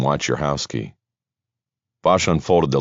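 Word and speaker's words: Wojciechowski: It sounded like she pronounced the name, "Watch your house key."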